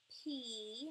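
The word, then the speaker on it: π: P, not pie, but P.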